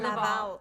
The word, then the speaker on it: Laval: Laval.